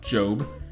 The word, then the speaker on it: GOB: George Oscar Bluth shortened the acronym gob pronounced Jobe those should be pronounced